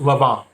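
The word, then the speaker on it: Lanvin: designer shoes it's called lavon and it's l-a-n-v-i-n and it's pronounced lava the n is silent in french when it's like saint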